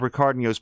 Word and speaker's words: Ricardinho: RICARDINHO Just Vibing. The rest of it is the way that you would expect, but Ricardinho is the H comes out as a Y when pronounced here, so do check that out as well.